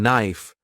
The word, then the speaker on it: knife: dip thongs like o consonants like the K in knife became silent while pronunciation changed spelling